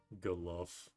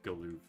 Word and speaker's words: Galuf: Galuf. I remember I was told I'm pronouncing Galoof wrong.